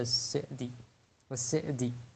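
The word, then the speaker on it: السعدي: அப்துல் ரஹ்மான் இப்னு நாசிர் அஸ்ஸெதி, அதாவது சீனுக்கு கஸ்ர், இதுதான் சரியான உச்சரிப்பு. ஷேகுனா அபு அம்மார் யாசிர் அல் அதனி கூறியது போல் அஸ்ஸெதின்னு உச்சரிக்கிறது தான் சரியான உச்சரிப்பு.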